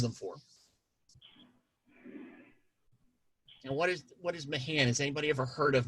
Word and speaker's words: Mahan: And what is Mahan? Has anybody ever heard of Mahan? Or Mahan, as it's sometimes pronounced.